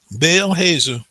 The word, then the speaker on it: Baal Hazor: Absalom, with his sheep shearers for a feast in Baal Hazor. That's the way you pronounce that word. Baal Hazor.